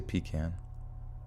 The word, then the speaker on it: pecan: pecan pecan pecan pie i say pecan like toucan sam poopulated they assured us